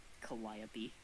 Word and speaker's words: Calliope: It's literally exactly like the Calliope, but 2 tiers higher. Yeah. The Calliope? Calliope. Is that how it's supposed to be pronounced? Yeah, like the instrument.